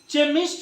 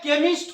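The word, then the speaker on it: chemist: यहां पर जो है आप चेमिस्ट नहीं पढ़ सकते, चेमिस्ट नहीं, नेवर। यहां पर जो है केमिस्ट होगा।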